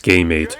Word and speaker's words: Gamate: talking about is this the gamate the godmates or pronounced game mate is a handheld gaming